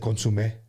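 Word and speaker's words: consommé: You dip Dipped them in the consomme? You dip? Yeah, those were good. I said consomme.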